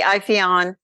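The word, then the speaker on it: Ipheion: Is it Iphion or Iphion? I'd say Iphion.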